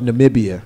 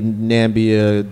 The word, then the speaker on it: Namibia: president did not realize the correct pronunciation of the country and of Namibia is what he was probably trying to say but here's the thing right we can laugh about it I made the confetti nambia Wakanda zmuda joke right